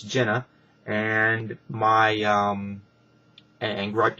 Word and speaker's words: Jenna: It was just an email here on YouTube, which um griped because they said, "Hey, it's my name is not um Gina, it's Jenna."